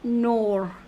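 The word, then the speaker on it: nord: in French here I have given you L nor don't pronounce the okay don't pronounce the Le cardino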